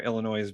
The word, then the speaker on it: Illinois: Illinois boy. Hey. Hey, that S is silent.